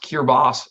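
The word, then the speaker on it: Kiritimati: because it yeah well Christmas Island got its name because cure to body is pronounced cure boss and then people thought they were saying Christmas and so these called the Christmas Island so yes Steve's right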